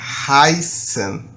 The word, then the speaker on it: heißen: um h certo gente então o verbo é haisen OK vocês notaram que haisen ha haen o h tem som no alemão